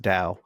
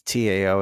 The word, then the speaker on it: Tao: you live there it's to downtown yeah or pronounced Dao but it's Tao and that place is crazy it's like it's